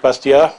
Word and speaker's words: Bastiat: mid 19th century Frederick bastia and you pronounce his name without the T at the end it's busted yeah um